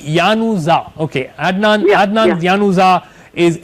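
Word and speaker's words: Januzaj: okay bye D weather D जे और डी के आते डी और N both silent so इट्स an post तू बी यानोजा ओके अदनान अदनान ज्ञानुज्जा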